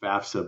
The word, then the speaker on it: FAFSA: bent out of shape about yes it's technically pronounced FAFSA but why don't we just call it FAS